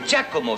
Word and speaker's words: Giacomo: Giacomo, monsieur. Non, monsieur, c'est Giacomo. Ça se prononce avec un D, mais ça s'écrit avec un G.